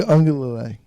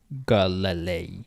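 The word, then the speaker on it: Uiagalelei: Ugi Ungalele. Yeah, it's pretty good, yeah. Ugi Ungalele? Uya. Uya. Ungalele. I thought there was a G somewhere in that. There is no G in the Hawaiian alphabet.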